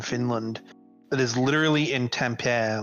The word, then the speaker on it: Tampere: Seriously, like I'm looking at a photo right now of a farm in Finland that is literally in Tampere, like Tampere, or how do you pronounce? Tampere, yeah, like which is north of Helsinki.